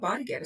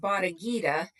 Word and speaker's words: Bodda Getta: no, 1960s, said that they were doing a little chant at the time that they pronounced Bodda Getta, and that it went